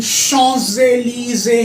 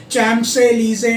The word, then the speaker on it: Champs-Élysées: Then Champs-Élysées है, इसकी pronunciation Champs-Élysées नहीं है, Champs-Élysées.